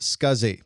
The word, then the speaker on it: SCSI: The abbreviation SCSI is pronounced SCSI and this stands for small computer systems interface.